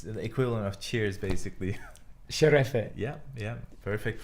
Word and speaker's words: şerefe: Sherefe. Yeah, perfect pronunciation.